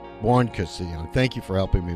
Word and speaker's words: Buoncristiani: Did I pronounce it right, Tina? Buoncristiani. Buoncristiani.